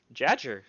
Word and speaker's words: Jadger: Jadger, you said it right. Yeah, it's like Badger with a J.